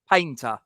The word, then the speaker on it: Painter: was it charlie uh how do you say that panther like painter painter okay charlie painter like he's